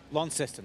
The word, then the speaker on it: Launceston: What is it? Launceston. Launceston. That's correct. Launceston.